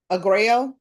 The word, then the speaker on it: Aguayo: Kelly Josephine, how do you pronounce the last name? Aguayo. Jacob Edward Aguayo. That doesn't seem like that's Aguayo. Okay. Well, I'm going to pronounce it, the way we do in Louisiana.